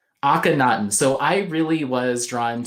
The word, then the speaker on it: Akhenaten: came out recently and help me with the pronunciation uh Akhenaten akhanaten so I really was drawn to the first